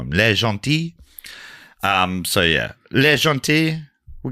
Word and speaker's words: Le Gentil: How did you pronounce the bit that's like le gentil? Well, you say it's a silent L. It looks like le gentil.